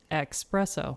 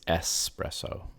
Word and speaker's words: espresso: so that's how it's it's normally mispronounced with the x expresso yeah it's espresso that's right that's so